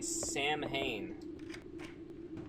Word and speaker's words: Samhain: Yeah, I had always pronounced it Sam Hain because, that one Danzig album.